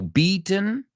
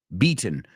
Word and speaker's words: beaten: The Roots there so beaten beaten well eaten right it rhymes with eaten this food hasn't been eaten right we do the gladle